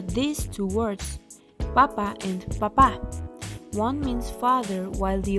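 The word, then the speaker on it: papá: two words papa and papa one means father while the other means potato the only difference is that father has its stress syllable in its last syllable it also has a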